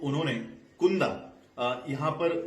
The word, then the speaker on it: Cunda: है वो है CUNDA, तो इसको कुंदा प्रोनाउंस करे या चंद प्रोनाउंस करे, ये पाठकों ने अपने आप से पूछना चाहिए। CUNDA तो मैंने स्पष्टीकरण के लिए कुंदा यूज किया है, ये चुंद भी हो सकता है या चंद भी हो सकता है।